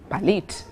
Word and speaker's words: Palit: Sharon Tumusime is an entrepreneur, a business owner and co-founder of Palit. That's the right pronunciation.